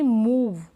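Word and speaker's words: move: अब कुछ में हम बड़े ऊ के रूप में पढ़ते हैं, जैसे कि मूव, ऊ, बड़े ऊ का प्रोनाउंसिएशन हो रहा है यहाँ पर।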